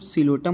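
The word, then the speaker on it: Psilotum: ठीक है, तो इन पांचों का मतलब होता है, जैसे पी से सिलोटम हो जाएगा, जो कि पी साइलेंट होता है तो सिलोटम पढ़ते हैं इसको।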